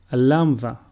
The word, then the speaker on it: Lambda: Lambda, which is pronounced Lu, and a sample word is Lemoni, which means lemon.